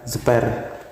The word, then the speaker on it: Zper: Oh iya, kemarin tadi ada yang komen ya, spill alat grindernya, grinder ini mereknya Zipper, bacanya Zipper.